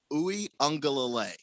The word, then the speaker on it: Uiagalelei: There's no N in his name. It's Uiagalelei. That's just how.